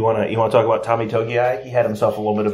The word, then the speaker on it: Togiai: But his name was, because they kept pronouncing the name wrong. Yeah. Togiai. Togiai, yes.